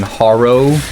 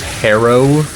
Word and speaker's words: Harrow: People were getting mad at me for saying Haro cuz apparently it's pronounced Harrow, but Harrow sounds like some loser name.